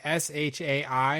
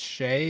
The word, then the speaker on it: Shai: Fall In Love yeah s h a i I think that's Shay is how she pronounced that yep or Shai okay I think